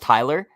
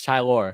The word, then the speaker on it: Tylor: war literally is it not is it not pronounced tyler no it's tylor hi lord there you go how is he